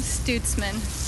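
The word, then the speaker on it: Stutesman: Can you pronunciate both of those names? Studsman.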